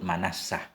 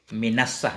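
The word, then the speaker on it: مِنَصَّة: Sebagaimana kursi pengantin tinggi sehingga orang kelihatan langsung terhadap pengantin, disebut manassah. Nah. Minassah bacanya. Minassatil urus. Bikasril mimi. Wahwa mif'alah.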